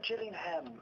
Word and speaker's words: Gillingham: was trying to get here I was like jilling them please cuz I figure it's like you know like Le not you're not supposed to pronounce all of the syllables it's like in London where's jelly oh Gillingham I thought it wasn't supped it's Birmingham right